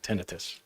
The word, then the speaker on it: tinnitus: own that's the officially how you say it tinnitus what would you what would you what's the